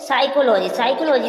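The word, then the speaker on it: psychology: एल ओ जीी वाय तो साइकोलॉजी में बोला एस से पहले और एन से पहले प आएगी तो प साइलेंट रहेगी इसलिए साइकोलॉजी में प साइलेंट है न्यू मैट्रिक्स में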